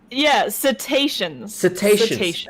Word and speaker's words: cetaceans: Today we're going to be covering okay, please, KP, before I embarrass myself, how do you pronounce that term? Cetaceans? Cetaceans.